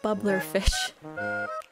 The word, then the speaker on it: bubbler: Boiling bubbler fish, not blubber, bubbler fish.